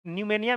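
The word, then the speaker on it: pneumonia: न्यूमेनिया में P silent होता है, ठीक है ना?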